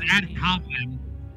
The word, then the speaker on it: ad hominem: The pronunciation is ad hominem.